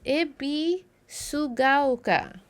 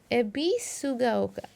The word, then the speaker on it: Ebisugaoka: Ebisugaoka is pronounced as Ebisugaoka. Ebisugaoka. Ebisu. Oh! Pronunciation breaks down into the syllable Ebisu. Gaoka. Ebisugaoka.